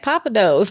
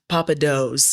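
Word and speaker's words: Pappadeaux: I'm Papa Do's learning. is amazing. Yeah. Okay. Papa Do's. Yeah. Yeah. Okay. But it's not spelled like it sounds.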